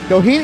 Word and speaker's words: Doheny: He'll be defending his title against TJ Doheny.